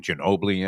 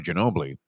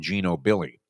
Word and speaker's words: Ginobili: But Trevor Denman was pronouncing there's a horse named after Manu Ginobili, and Trevor Denman called him, and I don't know if he did this more than once. He kept calling him Gino Billy.